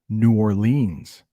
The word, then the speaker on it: New Orleans: And it's New Orleans, which is how I say it. But you might also hear it called New Orleans. So 2 different pronunciations for the same city.